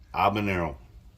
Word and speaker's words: habanero: Habanero is habanero. There's no H.